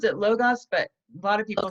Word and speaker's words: Logos: We pronounce it Logos, but a lot of people say Logos?